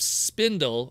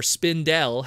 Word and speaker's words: Spindle: a female recruit of Spindle, or Spindel, however you'll want to pronounce it. I think Spindle is probably the correct way to say it. Spindle is an insanely crazy retool of Paleotrex.